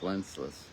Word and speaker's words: Wenceslas: of a good king Wenceslas. Good King Wenceslas. Wenceslas. Yeah, Wenceslas, but it's Wenceslas. Why are you saying funny? Because of the song, Good King Wenceslas.